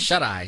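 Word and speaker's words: Shuteye: How do you pronounce that? Shut-Eye.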